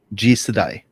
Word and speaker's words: Jisedai: with the pronunciation. G Jisedai? Jisedai.